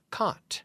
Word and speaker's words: caught: catch yesterday I got caught right the pronunciation is that ot aught aught see a you ght but we say caught and now we use